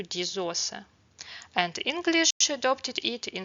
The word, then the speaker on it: die Soße: The German language borrowed this word and is gender directly from French along with haute cuisine changes the pronunciation to diz ausa.